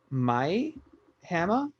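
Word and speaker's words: Mie Hama: What I thought was really cool is that I think you pronounce her name Mai Hama.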